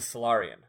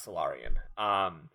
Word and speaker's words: Solarian: lower class lower class Solarian rams this are probably hello I know it's Solarian because Solaris that's like only we could pronounce that but I kept saying Silurian because there I play Mass Effect and so I I